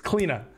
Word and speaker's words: Cliodhna: cli uh clean up keep saying cleo because people type it out cleo all the time her name is cleaner even though it is cleola um so it's cleaner that's how you say it if you guys